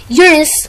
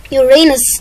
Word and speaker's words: Uranus: But it was changed to Uranus, and the pronunciations are Uranus, like scientists, Uranus, like we say it, and Uranus after the Greek god.